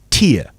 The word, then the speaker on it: tear: So that is tear. It rhymes with ear. Yeah. So if it comes out of your eye, it rhymes with your ear.